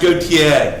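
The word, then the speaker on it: Gotye: It's pronounced Gautier.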